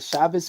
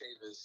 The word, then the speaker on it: Chavis: What's a Chavez flag? What's up, buddy? What's your name? Where you from? It's pronounced Chavis. Oh, my bad.